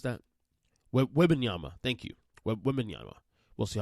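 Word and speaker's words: Wembanyama: best odds to get victim Yama how you pronounce that webinyama thank you we'll see how that plays out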